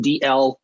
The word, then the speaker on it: Dalzell: zed dot co because my last name case everyone didn't know is actually just pronounced dl even though it's spelled with all those letters in it the zed is silent so thanks for watching